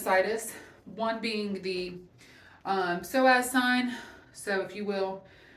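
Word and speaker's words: psoas: the table for the soaz sign you're going to and I hope I'm pronouncing it correct soas PS o um you're going to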